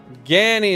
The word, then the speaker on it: Gani: Rhymes with Annie, so Gani. Gani is how you say it.